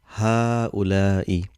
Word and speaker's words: هؤلاء: Ha'ula'i. So if you see what I'm saying, there's only sign of single fatha here. There's no mad, but how we pronounce ha'ula'i. Same like hada.